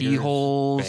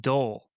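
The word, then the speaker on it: dhole: There's Lions, tigers, D-holes, bears, there are D holes, which are D-hole, pronounced dole, right?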